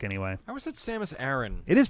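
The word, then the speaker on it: Samus Aran: don't know about aaron or iran or that samus a ron yeah there we go perfect um oh my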